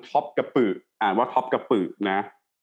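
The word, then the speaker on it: Topkapı: พิพิธภัณฑ์ พระ ราชวัง Top กับ อือ อ่าน ว่า คบ กับ ปรึก นะ ที่ มา it sun woo ประเทศ ตุรกี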